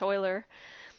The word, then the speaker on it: Euler: That's EU is actually pronounced E, like oi, in German anyways. So maybe I'm wrong in any other language, but that's what it's pronounced, Euler.